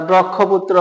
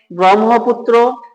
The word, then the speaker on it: ব্রহ্মপুত্র: এটার উদাহরণ দেখেন ব্রাহ্মণ অনেকে এটাকে মনে করে যে ব্রাক্ষণ বলে থাকে আমরা যারা না জানি এটাকে ক্ষিয় মনে করে অনেকে এটাকে বলে যে ব্রাক্ষণ বা ব্রক্ষপুত্র বা ব্রাক্ষণ বাড়িয়া অনেকেই পড়ে থাকে যেটা ভুল তাহলে উচ্চারণ হবে ব্রাহ্মণ ব্রহ্মপুত্র ব্রাহ্মণবাড়িয়া আশা করি বিষয়টি বুঝতে